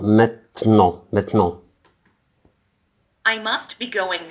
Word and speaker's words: maintenant: maintenant. لاحظ أن حرف الـN هنا يعني يعتبر أن هو لا ينطق. maintenant.